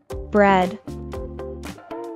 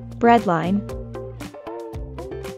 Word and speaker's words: breadline: Falls below the breadline the cluster EA is pronounced as an e sound bread bread breadline breadline so to live